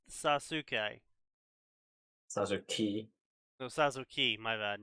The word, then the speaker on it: Sasuke: I legitimately thought in the past Sasuke was pronounced Sasuke.